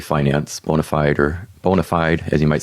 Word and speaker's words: bona fide: is by the way bonafide finance bonafide or bonafide as you might say in anglo but we pronounce it bonafide in latin because i have a latin background so bona fide finance